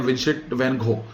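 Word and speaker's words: Vincent van Gogh: वैन गॉग के बारे में आप जानते हैं, घोष एक्चुअली हम लोग ऐसा बोलते हैं, इसको बोलते हैं विंसेंट वैन गॉग, इस तरह से प्रोनाउंस किया जाता है।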